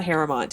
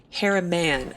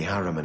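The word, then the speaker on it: Harimann: these hair out hair I keep saying harrowmont but it's not harrowmont it's it's a harem an harem on I don't I'm just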